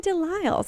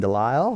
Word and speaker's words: DeLisle: He said don't pronounce the L, but it's like Lyles. And guess what? She got it. No, don't pronounce the S.